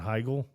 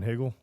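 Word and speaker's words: Heigl: Um but Kathern Higgel Mhm. I used to call her Katherine Higgle.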